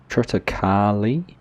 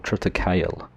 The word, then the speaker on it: Triticale: Alright, so here we are, field 33 with our Triticale, or Triticale, however you want to pronounce it.